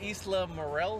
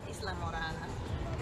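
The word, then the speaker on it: Islamorada: This is the Isla Morel. How you say it, babe? Isla Morada.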